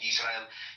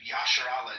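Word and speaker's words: ישראל: It can be found that pronunciation, Yisrael. It's in the New Testament. It's in all of the apocryphal books that were written in Greek, like Second Maccabees. There's no instance where the name of Israel is ever rendered Yasharallah, and it was very easy to be able to transliterate that, but there's literally zero evidence for that pronunciation.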